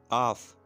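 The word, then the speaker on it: half: آف نصف یا آدھا. ٹھیک ہے، آف. آف. اس میں ایل سائلنٹ ہے.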